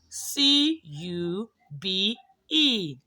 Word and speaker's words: cube: it is sound you so this is cube and the magic e will be silent so you can you